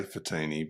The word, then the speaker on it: Fiteni: Well, I say Fiteni, but it's okay.